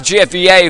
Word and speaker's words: Jeff Yay: I keep really randomly pronouncing that. It is Jeff Yay for doing a lot of these stream UIs, and he is controlling the stream.